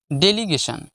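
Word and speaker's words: delegation: এ গে daily গে এখানে জি এ যে নয় জি এ গে উচ্চারণ হবে ডেলি গেন সান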